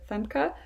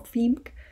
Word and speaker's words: Femke: you may get again people saying femc instead of femke or fimk and it is germanic